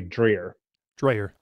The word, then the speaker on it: Dreher: do you say it it's drier is actually how it's pronounced in in german but uh here in south louisiana a week say drear dryer okay uh rod is